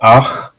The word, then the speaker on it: ach: So we have ach, and the KH sound is pronounced like loch in Scottish sound.